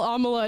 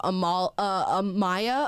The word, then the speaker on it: Amala: No, people got Amala's name wrong just about as much as they got your name wrong. Yeah, a lot of Amanda. Yeah. A lot of Amaya. A lot of Alama.